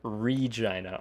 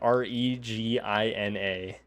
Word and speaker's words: Regina: the biggest city Regina Regina r e g i n a that is how it is pronounced no not vagina it is Regina wiggling